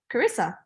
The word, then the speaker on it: Charissa: yeah, like Oh, how you say charisma? Charisma. Oh, okay. Yeah, it's Okay. like just replace the M with an S. So Charissa.